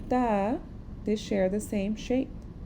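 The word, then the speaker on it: ت: Now how do we say the letter ta?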